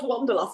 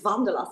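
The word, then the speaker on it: Wanderlust: yeah everyone was laughing it's not Wonderlass, it's Vanderlast and I was like Wonderlast.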